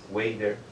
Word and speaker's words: Weider: Wader.